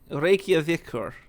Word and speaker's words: Reykjavíkur: Reykjavíkur. Because that P is the TH. We turned the P into a Y, which is why we say yield, but it's actually just the old. So Íþróttafélag Reykjavíkur.